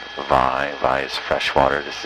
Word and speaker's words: wai: of what we call why or vi v should pronounce it with the V sound vi vi is fresh water